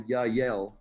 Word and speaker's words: Yahyel: But if you want a specific name, I think they're called the Yahyel group. Yahyel. Sounds like a Hebrew word. That sounds like Yahweh.